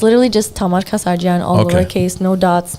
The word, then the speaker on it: Kassarjian: I don't want to butcher her last name, but from the way I can pronounce it, it's Kaosean. Oh, Kiosian. Oh, Kassarjian.